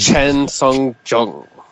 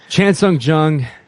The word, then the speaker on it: Chan Sung Jung: Chen Sung Jung. Okay. Chan Sung Jung, Lexi and Tito.